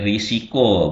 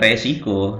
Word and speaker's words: risiko: Kemudian risiko, bukan resiko.